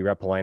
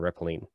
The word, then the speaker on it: Retpoline: use that too so i think either one are perfectly acceptable um so if you're wondering how do i pronounce that weird word i don't think anybody actually agrees it could be replying or rippling the goal of the